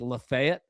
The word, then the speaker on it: Lafayette: Make sure there's a little town in Tennessee that's pron it's pronounced Lefayet. So I always get mixed up, but Lafayette, right?